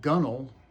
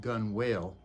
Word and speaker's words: gunwale: So the expression gunnel, which really comes from the word that looks like it should be pronounced gun whale, refers to the very